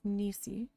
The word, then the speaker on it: Ni: But it is ni like your joint and another word for the ocean.